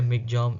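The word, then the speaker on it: Michaung: ठीक है, मिगजॉम, जो मिगजॉम है ये प्रोनाउंस किया जाता है, मतलब ये जो लिखा है इसको प्रोनाउंस किया जाता है इसे मिगजॉम।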